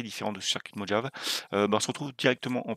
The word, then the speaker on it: Mojave: Donc, nous avons, donc c'est Mojave, vous voyez ça se prononce comme ça, Mojave, bref, voilà, ici, en fait, ça vous permet,